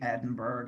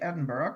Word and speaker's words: Edinburgh: Yeah, here in the US we say Edinburg. I know. But, you know, if you know John Cox or you're from Europe, you say Edinburgh cuz you know that's how it's pronounced and this is where